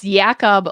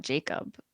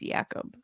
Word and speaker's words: Jakub: So it's Jakob Lauko, not Jacob. In case you guys were saying that too, it's Jakub Lauko. Jakub Lauko.